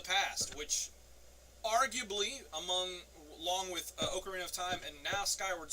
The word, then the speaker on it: Ocarina: Oh, and just an FYI, I know it's pronounced Ocarina.